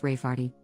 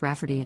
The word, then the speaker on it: Rafferty: sister wanting to name my niece Rayfarty, pronounced Rafferty, not at all like Rayfarty.